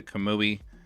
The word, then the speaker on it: Kamui: Chrisman uh I'm assuming you're asking about the kamui athlete so kamui is spelled k a m UI the athlete is